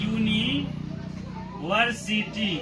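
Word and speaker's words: university: तो भवेल है लेकिन इसका उच्चारण यानी प्रस जो है मतलब क्या इंग्लिश के भवेल होते हुए इसका हिंदी में इसका उच्चारण क्या है कंसोनेंट साउंड आता है क्या आता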